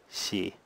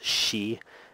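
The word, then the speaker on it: し: to understand is that a lot of people get hung up on this s i pronunciation as she and they make it into a really strong she like in English it's actually something between the words she and the sound C so it's maybe like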